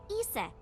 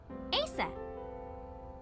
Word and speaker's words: Isis: Horus's mom is named Isis, but in ancient Egyptian, it's pronounced closer to Ise or Ase.